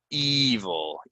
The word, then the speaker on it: evil: reading about ancient history evil evil right another e that's that's an e sound not a e right evil evil dozen meaning 12 right it's